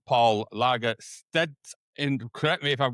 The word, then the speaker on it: Lagerstedt: way from the states wonderful individual called Paul Lagasse and if you correct me if I've got that pronunciation right or wrong perfect you got it